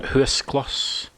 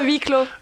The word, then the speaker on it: huis clos: I might be mispronouncing this one. Huskloss. Is that? Sound you like Maureen do it. Huskloss. Oh, huis clos.